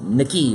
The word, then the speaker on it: Nicky: Oh, on the playoff final, it was Nicky, wasn't it? Nicky. Rather than Naki, so...